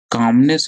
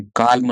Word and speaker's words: calm: नहीं है जान लो, इसमें एल साइलेंट होता है, CALM। इसको कैसे पढ़ते हैं, काम, काल्म नहीं पढ़ेंगे इसको, काम पढ़ेंगे, CAM, काम। एल is silent over here.